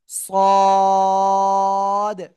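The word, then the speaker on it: ص: সাথে লাগান এইযে লাগিয়ে একটু মোটা আওয়াজে উচ্চারণ করতে হবে সদ সদ সদ চার আলিফ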